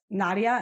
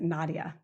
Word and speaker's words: Nadja: Todd Medley and his wife Nadja, and it's spelled Nadja, but every interview or every place I've looked, they pronounce it Nadja.